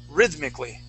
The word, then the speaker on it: rhythmically: Rhythmically. Rhythmically. Rhythmically. Okay. The accent's at the beginning.